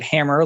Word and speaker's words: Hammer: Hammer, we pronounce it hammer like the tool you swing and pound a nail.